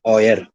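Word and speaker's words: euer: और ई यू ई आर की pronunciation है ऑयर, ऑयर।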